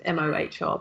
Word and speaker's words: Mohr: I don't know how to pronounce her name. It's Mohr, but she's, that's all about playing big.